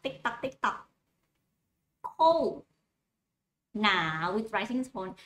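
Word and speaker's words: หนาว: Now, with rising tone. You pronounce like the word now in English, but put the tone going up like this.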